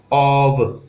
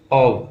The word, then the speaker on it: of: देखिए ऑफ जो है ना, इसका सही उच्चारण ऐसे होता है, ऑव, ऑव, क्या कहते हैं, ऑव।